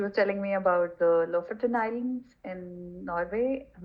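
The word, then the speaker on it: Lofoten: of those islands how do you say them ltin so l f o t n huh okay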